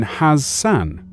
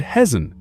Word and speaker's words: Hassan: It should have been Hassan, but she said Hezan, as if there were a Z.